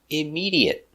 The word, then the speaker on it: immediate: So, it's always pronounced with a short e. Immediate. Immediate. Let's look at the pronunciation. Immediate. Immi. Immediate. Immediate. Immediate. Stop. T. Immediate. Not immediate, but immediate. Link these sounds. Immedi. Link those sounds. Immediate. Immediate. Immediate. Four syllables. Stress on the second syllable.